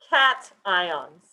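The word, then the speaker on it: cation: electrons it becomes positive positive ions are called cat ions and that is how you pronounce it it's called a cat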